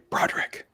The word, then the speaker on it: Broderick: and maria patillo um i think you uh mispronounced matthew broader christians pronounced matthew broderick oh you say you